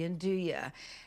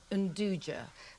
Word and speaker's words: 'nduja: it should be pronounced "unduja", but you can remember its correct pronunciation if you think of saying, "Do you want to eat now?"